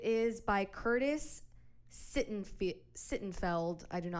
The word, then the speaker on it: Sittenfeld: okay so it is by Curtis sit and sit and felt I don't know how to pronounce his last name it's s-i-t-t-e-n-f-e-l-d romantic comedy